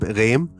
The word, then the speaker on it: Rehm: english speaking realm because in german you pronounce it philip reim but i don't know how he pronounced philip wright in english like philippe of felipe or philip i would say philip rem is it ram is that right for a north american